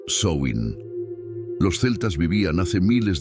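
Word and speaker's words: Samhain: una antigua festividad Celta llamada Sam hain se pronuncia soin los celtas vivían hace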